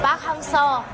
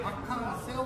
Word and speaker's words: 박항서: 베트남 말로 하면 박항세우가 되는 거야? 박항서, 항서. 어떤 사람들 박항세우 그러던데? 그래 일반 사람들이 말할 때는 또 발음이 안 맞잖아요. 네, 나이 많은 사람도 다 박항세우. 왜냐면은 세우이 영어 그렇게 썼거든요. 그러니까 박항세우를 서 그냥 어떤 사람은 세우라고 그래요.